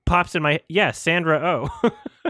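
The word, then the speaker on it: Sandra Oh: Pops in my yeah Sandra o Sandra o it's two syllables and then an o sound at the end and like I just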